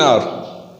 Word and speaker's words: hour: When I say to someone, I will come within an hour. I will come within an hour. I have used n. Why did I use n? Because H over here is silent and the pronunciation of R is vowel.